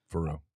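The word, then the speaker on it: Faurot: What's their Faro field? What's their field name? Starts with an F. At Missouri? Yeah. Faro or something like that. Faro.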